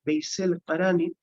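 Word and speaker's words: Veysel Karani: Uwais al-Qarani, en la pronunciación turca un poquito más conocida, Veysel Qarani, que era un contemporáneo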